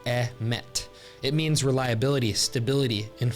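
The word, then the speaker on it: אמת: The Hebrew word here is pronounced emet.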